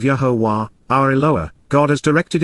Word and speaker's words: Yahowah: written and verbal proclamations, of Yahowah, the proper pronunciation of the name of Yahuwah, our Eloah, God as